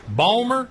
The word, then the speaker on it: Baltimore: how do you say Balmer how do they say yeah you never say the tea if you're from Baltimore you don't say that you say Baltimore or